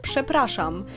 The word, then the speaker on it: przepraszam: So I'm sorry in Polish is pronounced przepraszam, but written przepraszam, which is really hard to say, that's why we simplify it.